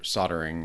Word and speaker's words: solder: it's totally silent but it's mostly silent sold soldering it's it's there but it's not I kind of like solder soldering so soldering kind of yeah people just say solder it's generally how we pronounce it no wow so what